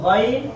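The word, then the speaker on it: غ: ওই এই জায়গায় হল হ্যাঁ এই গইন এই জায়গা থেকে উচ্চারণ হবে হলকের শেষ অর্থাৎ হলকের শুরু হলো নিচেরটা শেষের উপরেরটা তাহলে এই জায়গা থেকে গইন উচ্চারণ হবে জিহ্বার গোড়া না জিহ্বার সাথে গইনের সম্পর্ক না কিন্তু অন্তত আমরা গরু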